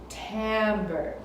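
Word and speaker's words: timbre: is called Tambor Tambor it's spelled with an i but you say it with an a Tambor and that's the color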